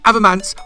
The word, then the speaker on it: Avomance: It is Avomance, not Avomance, Avomance or Avo. You can call me Avo if you want, but Avomance, that's my name.